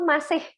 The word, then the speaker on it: Mbok Mase: Tapi ini tuh masih. Jadi ngomongnya itu kayak ada H-nya di belakang. M-A-S-I-H, kayak masih gitu loh.